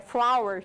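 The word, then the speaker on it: flour: Só abrindo um parênteses aqui, que a palavra farinha, ela tem a mesma pronúncia da palavra flor. É igual, identicamente igual na fonética, flower, tá?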